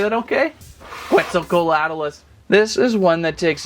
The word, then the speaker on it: Quetzalcoatlus: I believe there were lots of requests to check out the all-new Quetzalcoatlus. Hey, did I say that okay? Quetzalcoatlus.